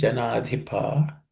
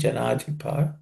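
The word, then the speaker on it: जनाधिप: Janadhipa, in that dhi is aspirated.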